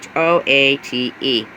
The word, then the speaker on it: Choate: I'm not sure how to pronounce it. It is Choate.